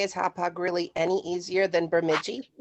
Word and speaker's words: Hauppauge: It's pronounced Hauppauge, New York. I was going to say, is Hauppauge really any easier than Bemidji?